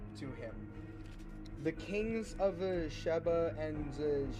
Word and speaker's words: Sheba: It's Sheba and Sheba, S-H-E-B-A and then S-E-B-A. So I'm pronouncing those two differently, okay?